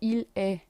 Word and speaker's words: il est: It's il est and elle est. But we don't say the T.